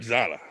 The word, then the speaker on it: Zotta: Zotta, Zotta.